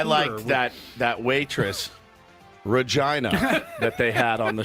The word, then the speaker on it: Regina: city that rhymes with fun. Yeah. That's right. Regina.